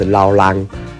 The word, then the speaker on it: rau lang: The pronunciation of sweet potato leaf is "rau lang". This pronunciation has a bit of an accent, so it is the same as rau rắm.